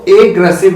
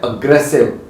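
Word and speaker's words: aggressive: आपने बहुत सुना होगा लेकिन इसको एग्रेसिव नहीं बोलते इसको बोलते हैं अग्रेसिव व्हाट इज ट प्रोनाउंसड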